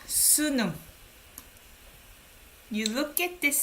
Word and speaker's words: 수능: test this is called sunum you look at this syllable so you look at this syllable korean people commonly call this test as a sunu we don't say the full name we simply just say